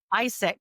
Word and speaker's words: AIESEC: After university, you started working for, do we pronounce it ASEC or do we pronounce like every We letter? Isaac, ISEC, like but the it's guy's name.